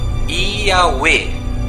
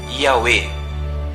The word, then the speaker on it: Yahweh: como pronúncia o nome Yahweh. Repita comigo. I-A-U-E. A pronúncia dos hebreus é Yahweh. Lembre-se, esta pronúncia não é de portugueses e nem de americanos, nem gregos, e sim de origem hebraica.